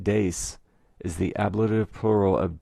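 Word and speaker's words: deis: i did learn that in latin d-e-i-s pronounced des is the ablative plural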